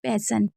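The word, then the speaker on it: passion: जैसे पेसन हो गया तो यहां पर एस आई ओ एन है। तो हम इसे क्या पढ़ रहे हैं? पैशन।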